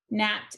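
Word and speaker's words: gnat: will spell the word nat this has ghost letter digraph gn nat is spelled g n a t now as always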